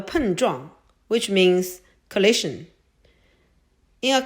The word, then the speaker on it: 碰撞: Please follow me to pronounce it. 碰撞碰撞碰撞 Now let's take this word apart to learn more words.